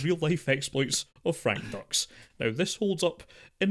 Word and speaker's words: Dux: as Frank Dux, because the film goes out of its way to mention that actually it's pronounced Dukes. Nope. No, it's not. It's not Frank. For me, he's Dux. Yes. I know you threatened to punch the screenwriter in the face, but it's most definitely Dux.